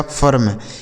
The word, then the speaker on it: firm: ठीक है, FIRM इसे पढ़ा जाएगा फर्म, FIRM फर्म। ठीक है, CHIRP तो CH आई का उच्चारण अ हो गया, आर से र और पी से प, यह लिखा गया आपका चर्ब।